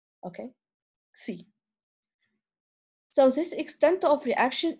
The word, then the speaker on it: xi: So it is written in this Greek letter, okay, and pronounced as xi, okay, xi.